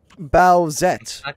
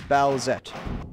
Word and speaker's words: Bowsette: Bowsette. That's two syllables. I fucking hate it. I'm miserable. That's two syllables, Alex. Bowsette.